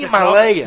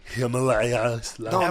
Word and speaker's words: Himalaya: no, you're saying it Himalayas. No, listen here. This is how you say it. Himalaya. No, listen to yourself. Yeah. You have to say Yeah. Himalaya. Yeah, you say, think- come I on, think- don't be an asshole. I think Yeah, the language. you The gotta say- language is my first language. If you don't mind. Yeah, show us how to say It's Himalayas. called Himalaya. This good.